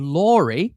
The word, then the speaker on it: Laurey: So I always say Lori rhymes with story and I think that fits really well uh with what I do.